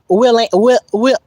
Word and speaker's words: Willian: Thank you, Willian. I had to look at that one again. Because I call you William at first.